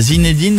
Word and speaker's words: Zinedine: a qui disent zindin il y en a qui prononce pas le il y a zinedin et zinin toi c'est zinedin ah oui souvz comme le le le jouur de tennis c'est ça mais non mais moi j'ai copain par exemple qui s'appelle zin pronce ça se prononce zindin il veut qu'on prononce zin c'est les deux quoi et qu'on prononce pas le E c'est un e jamais bon en tout cas zinedin tirer